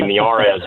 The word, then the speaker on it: Miyares: I know Jesse probably knows how to spell it, but the I is pronounced like an e in Spanish, so the last name may be miarz, but it's m i y a r.